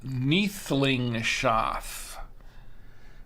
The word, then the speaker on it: Neethlingshof: Yes, it's pronounced Neethlingshof.